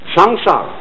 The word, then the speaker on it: samsara: Sanskrit sa M s a a samsara it's pronounced samsara and although samsara is represented in popular Buddhist